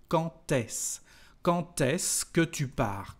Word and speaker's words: quand est-ce: For example, here we've got a liaison between the word quand and s, and when we've got a d, the pronunciation is like a t. Quand est-ce?